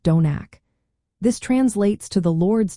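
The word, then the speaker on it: Domhnach: Finally, we have Sunday, which is Domnek, pronounced Donak.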